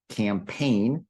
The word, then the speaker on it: campaign: we have this word campaign and remember don't pronounce the G in that word but a campaign is